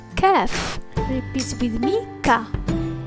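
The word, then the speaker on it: ك: The letter Kaf. Repeat with me, Ka. It's pronounced like the English Ka as in kip.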